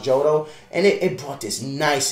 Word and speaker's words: Johto: it took it literally it's called the jodo reason johto region or jotto i think it's johto it's pronounced jodo and it brought this